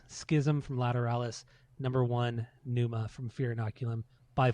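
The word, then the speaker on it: Pneuma: But Numa, that's how you say it.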